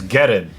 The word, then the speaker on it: Guerin: It's Guerin. Yeah. Guerin. Listen, we already have a video about me mispronouncing the shit out of names.